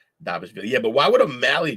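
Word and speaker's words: Dvalishvili: Dashvili. I always say his name wrong. Aspinall, Edwards, Volkanovski, Pantoja, Holloway, and O'Malley. Damn, O'Malley dropped to 13, huh? Will, it's Davishvili.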